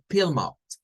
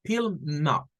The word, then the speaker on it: Plymouth: Entonces, allá había una ciudad inglesa, todavía existe, y se pronuncia como Plymouth. Plymouth. No es con la A, no es play, es es con la I corta, Plymouth.